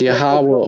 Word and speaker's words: Yahweh: It's Yahweh.